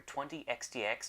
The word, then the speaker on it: 20XX: this is a family cast video review for 20 xdx done in 10 dos which my name is